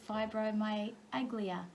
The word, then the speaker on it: fibromyalgia: And something that you live with in a day-to-day life, which is fibromyalgia.